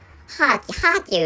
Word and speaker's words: Kharkiv: Kharkiv is Ukraine pronunciation for Kharkiv Oblast.